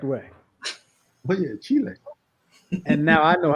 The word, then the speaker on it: Chile: Only person I've ever heard pronounce Chile the correct way. Oh yeah, Chile.